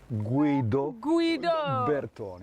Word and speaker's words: Guido Bertoni: Almost good pronunciation. By practice, Guido Bertoni is correct.